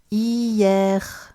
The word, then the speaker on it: hier: of course, which has no sound in French when it's on its own, like it is here at the beginning of the word. Hier, hier, avant-hier.